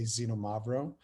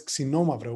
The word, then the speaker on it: Xinomavro: A lot of people know Nausa as the birthplace or the center of the Xinomavro, and that is the proper pronunciation, by the way. A lot of people say Xinomavro.